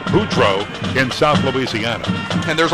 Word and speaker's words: Favre: No relation to Brett, and as people will tell you here in Mississippi, the name Favre in Mississippi pronounced the same, even spelled differently, as much like Boudreaux in South Louisiana.